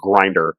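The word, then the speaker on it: Grindr: He is pronouncing right. It is Grinder because you know, let's let's uh let's get in.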